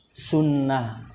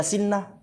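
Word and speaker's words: سنة: jadi kalau misalnya Antum menemukan kata sin Nun dan tak marbutah dibacanya apa sunah Coba kalau antum benar-benar belum pernah tahu bahasa Arab mungkin Antum itu apa sih sin Nun sama ha bisa aja Antum baca sinah sannah benar bukan tapi ketika Antum sering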